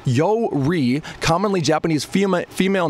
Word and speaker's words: Yuri: also mean abundant ideals pronounced yo REE commonly Japanese female female